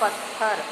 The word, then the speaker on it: पत्थर: पत्थर, जबकि सही उच्चारण है पत्थर। त आधा रहेगा, जबकि गलत वाले यानी अशुद्ध शब्द में दोनों थ का प्रयोग दिखाया गया है।